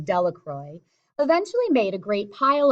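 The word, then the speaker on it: Delacroix: Jones and Dicky delacroy the villagers pronounced his name delacroy eventually made a great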